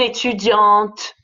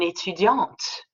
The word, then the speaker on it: étudiant: Un étudiant, une étudiante. That's why you don't hear the T in the un étudiant, but you hear the T in une étudiante. Because French is sexy, you